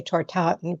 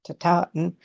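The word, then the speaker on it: tatin: I always say tartaten, but it's taten.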